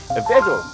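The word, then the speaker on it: Peugeot: 유럽 발음으로는 푸조라고 하지 않습니다. 외국 가면은 푸조라고 하면 못 알아들어요. 뭐라 그래야 돼요? 다 같이 빼줘.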